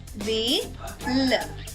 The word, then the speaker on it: wheel: WH యొక్క శబ్దం వహా కాకుండా వ అవుతుంది కాబట్టి WHEEL యొక్క ఉచ్చారణ అవుతుంది వీల్.